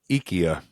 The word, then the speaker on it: IKEA: no, it's actually IKEA. and That's how they say it.